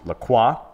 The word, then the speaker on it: Lacroix: a watch made by a brand called maurice lacroix spelt with an oix a spell it's pronounced lacroix so this watch is called the icon spelled